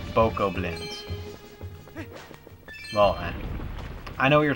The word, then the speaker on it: Bokoblin: Not Bogoblins. Bokoblins.